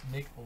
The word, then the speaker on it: McLaurin: McLaurin.